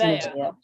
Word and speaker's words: Nevaeh: It's Nevaeh.